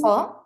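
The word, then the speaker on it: خ: kha. Ha. Yeah, now it's better. Alhamdulillah. The kha, it's basically with the key eight sound that is more of a kha sound, like that.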